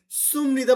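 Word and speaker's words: 습니다: সুপনিদা, দেখেন সুমনিদা বললে সহজ হয়ে যায়। এখানে কিন্তু কোনো রুলসের দরকার নেই, এটা কিন্তু কোনো রুলস না, এটা অ্যাকচুয়ালি আপনার মুখে অটোমেটিক চলে আসবে। দেখেই সুপনিদাটা সুমনিদা হয়ে গেছে। তারা বানান তৈরি করছে, তাই সুপনিদাই লিখতেছে, কিন্তু তার উচ্চারণ করতেছে কি, সুমনিদা।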